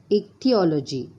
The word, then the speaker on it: ichthyology: It is little difficult to pronounce. Okay. So what is the next? Ichthyology. Listen once again. Ichthyology.